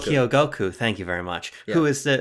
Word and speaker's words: Kyogoku: Kyogoku, thank you very much. Yeah. Who is the steward of the Animal Crossing series. It's not that we say, when we think about EPD 5, we think about Kyogoku and Nogami and these guys.